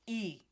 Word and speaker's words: i: The letter I in Spanish is pronounced as E.